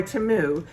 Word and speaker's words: Temu: Okay guys, as you can see by the thumbnail, I'm another one of those YouTube channels that got contacted by Temu, which is how it's properly pronounced, to go on their website and be